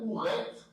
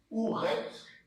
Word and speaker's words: Ouret: Donc, Hémet, vous avez ici, Nissout, qui veut dire, donc Nissout, c'est épouse royale, Ouret, donc le W se prononce O-U, Ouret, donc comme c'est un féminin, la descendance se fait en pointé, donc Our c'est grand, Ouret c'est grand, voilà.